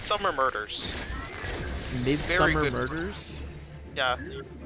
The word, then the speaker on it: Midsomer: Midsummer Murders? Yeah. It's Midsomer. It's pronounced Midsummer.